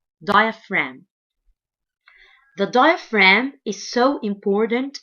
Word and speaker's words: diaphragm: called diaphragm diaphragm diaphragm and the G letter here is silent diaphragm the diaphragm is so